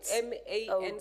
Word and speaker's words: Man: honorable Deputy speaker that's how my name is pronounced and that's how it's written m a n C man thank you honorable man thank you